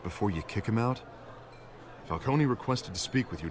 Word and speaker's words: Falcone: excuse us miss Vale thought it was Falcone I think you pronounce the e but there you go and what kind of